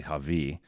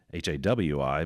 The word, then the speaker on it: Hawi: little community called Kohala, specifically Hawi, Hawi, but in Hawaii the V's or the W's are pronounced with a V.